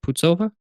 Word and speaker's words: Putzova: I said that right? Putzova? Yes, Eva. Putzova.